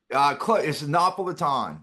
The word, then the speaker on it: Napolitan: And, how do you say it? Is it Napolitan? It's Napolitan. Yeah.